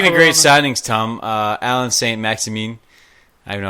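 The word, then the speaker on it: Saint-Maximin: signings, Tom, Alan St. Maximin. I don't know how to say this guy's name. No, you got it bro. right. Maxine, I think it is. It's St. Maximin.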